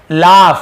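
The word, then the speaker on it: laugh: लाफ, इसे क्या पढ़ेंगे, लाफ पढ़ेंगे, लॉग नहीं पढ़ेंगे, लाफ।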